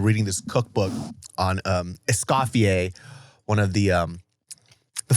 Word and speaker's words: Escoffier: Oh oh oh, Escoffier. Yeah, Escoffier. Now I know who you're talking about. You're saying it wrong. "Escoffier." You are putting the emphasis on the wrong syllables. No, Escoffier.